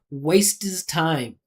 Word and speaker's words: waste his time: We can drop this H, right? This is silent. This is 2 silent letters right next to each other. Listen how I pronounce this. Waste is time.